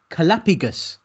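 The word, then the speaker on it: callipygous: the word I have learned this week is calapigus. How do you spell that?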